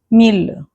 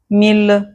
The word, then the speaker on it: mille: famille bouteille oreille famille bouteille oreille However, there are exceptions when actually the L will be pronounced. So, these are the exceptions and not the rule. So, don't get confused when you see that. The exceptions are ville mille tranquille Again, ville mille tranquille